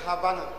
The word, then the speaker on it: Havana: The capital is Havana. Donc prions pour. They don't they pronounce that V as B.